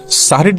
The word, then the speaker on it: সাহরি: রোজার জায়গায় সম বলা, এগুলোর মধ্যে শুদ্ধ অশুদ্ধের ব্যাপার নাই, কিন্তু সাহরির জায়গায় সেহরি বলা, এখানে ভুল এবং শুদ্ধের ব্যাপার আছে।